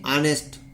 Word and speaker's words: honest: अब देखिए यहाँ एच है, लेकिन इसको हॉनेस्ट नहीं कहेंगे, इसको क्या कहेंगे? ऑनेस्ट, ऑनेस्ट, ऑनेस्ट, ऑनेस्ट मैन, यानी वह एक ईमानदार आदमी है।